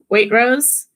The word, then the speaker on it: Waitrose: I would just like to say that when I say Waitrose, the T is there. You just can't hear it because of the R.